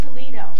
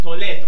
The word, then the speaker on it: Toledo: Oh, I thought it was Toledo. No, it's pronounced Toledo.